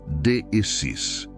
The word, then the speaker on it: deesis: Para entendermos a natureza desta oração, podemos olhar para a palavra grega deesis. Se pronuncia deis.